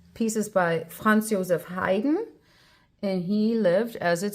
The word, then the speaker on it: Haydn: It's almost like I'm hiding, behind a tree, without the sound being too much of an ing sound, more like an n.